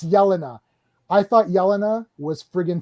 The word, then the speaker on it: Yelena: say to say budapest the way that that name is pronounced is yelena i literally know yelena's like yeah in my little croatian neighborhood that we grew up in it's yelena i thought yelena was freaking 10 out of 10.